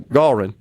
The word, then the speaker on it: Gallrein: I guess when you have the two consonants after the letter A, the vowel there, usually it is the short pronunciation of the A is the gall instead of gal, right? So Gallrein.